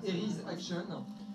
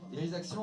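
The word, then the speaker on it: Eryi's Action: qui est pas cher du tout, qui s'appelle Eris Action. Ça s'écrit E-R-Y-I apostrophe S Action. Eris Action, en fait, c'est un petit jeu tout mignon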